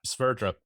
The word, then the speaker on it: Sverdrup: Sverdrup.